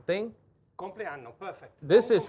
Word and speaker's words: compleanno: Buon 57esimo compleanno.